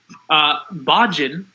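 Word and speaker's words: Bajan: smart good number three Bojan I believe that is the correct pronunciation is kind of a reminiscence of Cajun in terms of how you pronounce it as one name for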